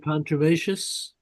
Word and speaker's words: contumacious: yeah, even the heading here, the late repentant, class 1, the contumish, contumis, I don't know how to pronounce it. Contumacious.